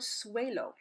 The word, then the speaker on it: suelo: suelo here we have the U and the e together the you says who the ESA's a su a low and that means floor when set at normal speed again don't say it slow and weird it sounds like a w suelo suelo alright guys that's